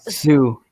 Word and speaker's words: Sioux: Saw Sioux.